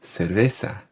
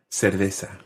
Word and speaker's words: cerveza: una ferreta una cerveza now this is a word that is definitely pronounced differently in different countries you might hear una cerveza una cerveza and that would be a latin american pronunciation in certain countries cerveza cerveza in spain it's a